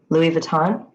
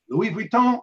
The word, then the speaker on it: Louis Vuitton: Louis Vuitton. Louis Vuitton is correct for 18, for 4 points. And of course, I overpronounced it the way Alex would. Louis Vuitton.